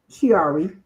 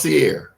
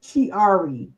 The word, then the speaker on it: Chiari: So it's not pronounced Sierra. No, it's Chiari. Chiari. I had it wrong all the time too. I've been had it wrong ever since I heard it because I was always like Sierra.